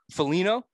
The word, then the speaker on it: Foligno: I guess you would call Nick Foligno, I think is how you pronounce it.